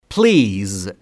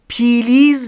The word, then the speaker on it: please: تلفظش اینجوریه. Please. پلیز نیست. Please. بین پی و ال صدایی وجود نداره. پس پلیز نیست.